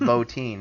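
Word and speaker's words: Bottin: recently started calling because I've looked it up its low teen it's spelled botton but he studied under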